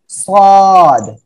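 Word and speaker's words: ص: সাদ এর মাথা দিয়ে টোটাল দুইটি অক্ষর আমরা উচ্চারণ শিখব এবং চিত্র দেখব, খেয়াল করেন। ওকে, এটা হলো সাদ এর মাথা। যখন সাদ এর মাথা শুধুমাত্র খালি অবস্থায় আসবে, কোনো নুক্তা না হবে, তখন সেটা হবে সাদ, এই যে, ঠিক আছে?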